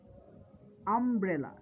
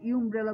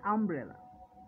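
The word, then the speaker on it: umbrella: আবার এই ইউ যদি আমব্রেলা শব্দটির পূর্বে বসে, এখানে ইউর এর উচ্চারণটা কি খেয়াল করে দেখো, ইউর উচ্চারণ কিন্তু ইউ হচ্ছে না, হচ্ছে আ, আমব্রেলা। আমরা কিন্তু ইউমব্রেলা বলি না, আমরা বলি আমব্রেলা।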